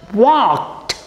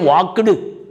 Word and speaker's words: walked: is pronounced as example walked please don't say wakandu that is butler english what w a l k e d you can find here two spoken english rules are applied here l is silent and e d is